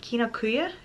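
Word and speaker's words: Kinokuniya: I don't know why, but I always mispronounce it. Kinokuya?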